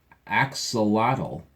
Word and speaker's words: axolotl: Axolotl.